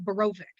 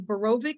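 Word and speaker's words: Borowik: with the name of berovic b-o-r-o-w-i-k um in polish the w is pronounced as a v anybody with the name of barovic or druian d-r-u-j-e-n that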